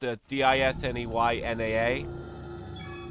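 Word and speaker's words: Disneyana: I think it's pronounced DisneyNaa, like essentially like Disney memorabilia.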